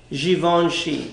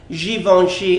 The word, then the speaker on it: Givenchy: Yes, darling, it's pronounced Givenchy and not Givenchy. For those of you that keep on pronouncing it as Givenchy, it is not Givenchy, it's Givenchy.